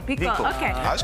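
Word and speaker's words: BeCool: Just imagine you're saying be cool. Vickle, okay.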